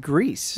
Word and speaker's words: Gris: called Gris. Yeah, it was a beautiful That's game. the correct pronunciation, right?